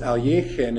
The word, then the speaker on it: Alekhine: He said incidentally that the reason it was pronounced alin is because near or on one of his